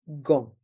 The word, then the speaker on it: gants: Dans le mot gant, les voyelles A et N se prononcent en et le T et le S sont muets. Des gants.